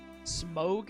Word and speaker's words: Smaug: But Smog is how they pronounce it in the films, and it's perhaps canonical.